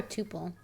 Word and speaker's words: tuple: Is it pronounced tuple or tuple? You can pick. I like tuple better. Well, then go for it. Because it rhymes with poop hole.